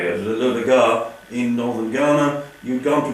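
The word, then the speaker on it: LoDagaa: How would your work have changed if, say, instead of going to the Lodaga, is that the way you pronounce it? Yes, Lodaga, yes. The Lodaga in northern Ghana, you'd gone to Borneo or to Ceylon?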